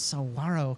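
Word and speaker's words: saguaro: to say this so AO there's no G it's Saro Cactus uh cacti because there's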